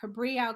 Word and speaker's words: Cabrillo: you did you got it right okay perfect cabrillo college um in uh in cali out there